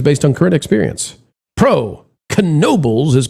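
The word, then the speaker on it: Knoebels: Pro canobles is pronounced with a C. It's like nobles with a ca ka. I thought I always thought it was nobles.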